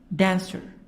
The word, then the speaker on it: dancer: The stress is in the first part. Jumper. Jump, jump, jumper. So the stress on the first part. Or dancer. Dance and then dancer.